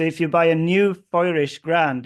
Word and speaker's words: Feurich: Or it's pronounced Feurich, or I think Feurich in German or something.